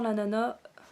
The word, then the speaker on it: ananas: Bon bref, ça sent l'ananas. On dit l'ananas, mais moi je prononce jamais le S à la fin.